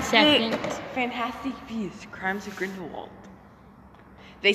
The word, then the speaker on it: Grindelwald: So next is Griswold. You know, from the Crimes of Griswold. I cannot stand you. You just mispronounced it. What's his name? It's Grindelwald.